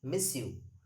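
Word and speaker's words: monsieur: yum and mma so this young stands for mr you can say miss you that is miss you remember the pronunciation miss you and of course the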